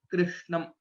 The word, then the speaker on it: कृष्णं: So the pronunciation of Krishnam, some people say it as Krishnam and so on, but the right pronunciation is Krishnam.